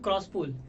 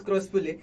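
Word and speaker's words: Croospulle: name, because being me, I mispronounced his name in my first game, and then it was Dhanush who told me it is Crosspule.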